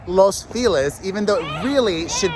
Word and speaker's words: Los Feliz: so this group of homes looks similar uh los feliz is a very lovely part of los angeles hold on and it's called los feliz even though it really should be pronounced los